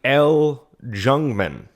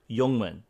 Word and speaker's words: Ljungman: The L Jungman. The L Youngman. The Youngman. Youngman. The don't pronounce the The Jungman.